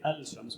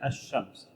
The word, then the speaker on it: الشمس: Ash-Shamsiyya is like the lam in the word Ash-Shams. We don't say Al-Shams, we say Ash-Shams, as if there is no lam.